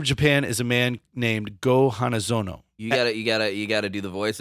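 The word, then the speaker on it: Go-Hanazono: The Emperor of Japan is a man named Go Hanazono. You gotta do the voice if you're gonna say it right. Go Hanazono.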